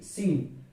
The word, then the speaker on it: scene: उसी प्रकार सी SCENE, तो सीन में देखिए एस के बाद सी आ रहा है, यानी कि सी साइलेंट, तो सीन।